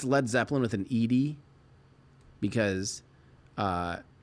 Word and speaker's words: Led Zeppelin: Americans would pronounce it Lead Zeppelin if it was spelled L E A D. But they wanted it to be lead like a heavy impossibly heavy Zeppelin.